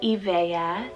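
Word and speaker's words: Evaya: truth i have the name evaea spelt e-v-a-y-a e-veya this would mean strength power and energy second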